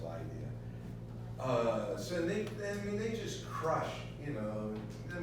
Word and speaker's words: Lydia: were consumed by Medo-Persia, spelled with a Y, L-Y, but pronounced Lydia.